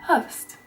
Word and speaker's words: höst: Number 1, Höst.